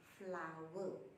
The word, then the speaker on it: flour: as flag but actually the pronunciation for this word is flower like a Bunga the flower okay thanks brother has